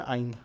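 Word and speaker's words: yne: अब अल्फाबेटिकली इन पहले आएगा, हेप्ट 3 इन 1 आइन। आइन का जो वाई है वो प्रोनाउंसिएशन में आई की तरह साउंड होता है, तो हम ई को हटा देंगे।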